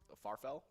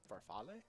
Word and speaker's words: farfalle: I can't believe that bow tie pasta is actually called Farfel? yeah, Farfalle? farfalle. Is that what it is? Yeah. Farfalle? Okay. Yeah. I never knew how to pronounce that. That's so strange to me.